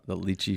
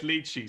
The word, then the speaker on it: lychee: Now we will always think of Robbie when we see the lychee flavor. Yeah, for sure. Say it lychee.